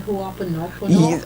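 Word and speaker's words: Hoʻoponopono: How do you pronounce that? Ho'oponopono?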